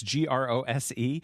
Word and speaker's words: Grose: Which, not that it matters, but is spelled Mrs. Gross in the book and in all the versions, it's Grose. This is, I think, the only one where it is like Gross.